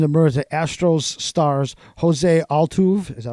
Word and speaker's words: Altuve: And new allegations emerged that Astros stars Jose Altuve, is that how you pronounce his name?